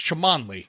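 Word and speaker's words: Cholmondeley: Le it's not Chumley from Pawn Stars it's chamley it's chle it's Chun Ley all right right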